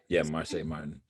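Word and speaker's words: Marsai Martin: Is it Marseille Martin? Yeah, Marseille Martin.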